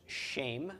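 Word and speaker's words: שם: Sheen followed by final mem with a tsera under the sheen is pronounced shame, and shame is a name.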